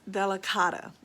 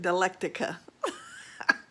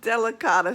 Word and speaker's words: delicata: thing drives me nuts the squash from trader joe's that i bought is delicata it's how you pronounce it i said galactica it's delicata squash so don't go out there and call it galactica like i did look like an ignoramus so it's delicata delicata